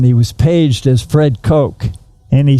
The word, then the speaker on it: Koch: So So they pronounced it caw like a crow.